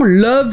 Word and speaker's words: love: Et comme j'en avais parlé il y a un moment, love se prononce avec le son E, qu'on associerait plutôt à un U dans un mot.